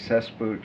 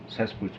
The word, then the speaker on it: Cesspooch: My name Cesspooch.